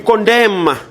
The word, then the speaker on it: condemn: You condemn. A what is silent? Condemn. And is silent.